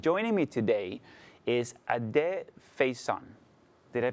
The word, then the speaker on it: Faison: joining me today is Ade Faison. Did I pronounce the last name?